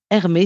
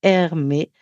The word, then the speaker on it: Hermetz: Alors, le livre est disponible partout, à la Fnac, sur Amazon, euh, et Hermé s'écrit Hermetz. Donc, Hermé.